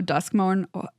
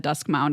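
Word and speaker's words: Duskmourn: played are draft so dusk M I said it right that time but I almost said dusk Mound I swear to God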